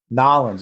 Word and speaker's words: New Orleans: And in the men's, like you said, New Orleans, Nolens, as I say, as the locals say.